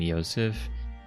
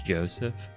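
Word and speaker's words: Josef: Also, while doing some research, I realized that I was pronouncing his name Yosef, but it actually starts with a J, so I guess it's Joseph.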